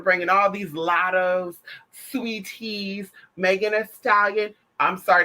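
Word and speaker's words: Saweetie: me you're not selling people don't even know how to say the name girl they think your name is sweaty girl didn't even know your name is sweetie because it's just how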